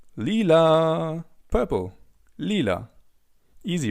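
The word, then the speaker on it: lila: Purple in German is called Leela. Leela. Imagine you're singing a song. Leela.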